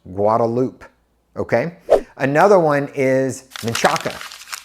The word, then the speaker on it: Guadalupe: get started with those for example you'll say Guadalupe when actually it's pronounced guadaloop okay another one is maaka it's not maaka